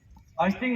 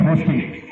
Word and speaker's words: hoisting: Hoisting or yes? I want the person who's saying no. Anyone here saying no? Sir, the word you pronounce is different. Hoisting. H-O-I-S-T-I-N-G. Hoisting. Not hosting.